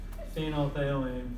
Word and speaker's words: phenolphthalein: just pronounced as interestingly as if the pH is silent that's a chemistry choking or somewhere phenolphthalein all right so if